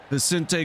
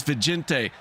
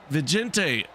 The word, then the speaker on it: Vicente: that is the beautiful viente in the 14 Vicente I'm sorry I said I said your name wrong it's vente uh vente great job at finishing